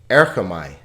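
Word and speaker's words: ἔρχομαι: Erchamai. Er-cha-mai. So there are 3 vowel sounds, 3 syllables. Er-cha-mai.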